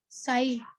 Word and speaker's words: psi: साई मतलब बोलते हैं, लेकिन इसका एक्चुअल स्पेलिंग जो होता है ना बेटा, PSI, ठीक है ना, P साइलेंट रहता है, तो क्या बोल देते हैं इसको, साई।